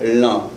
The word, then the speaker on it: lan: No, es nasal, no se pronuncia.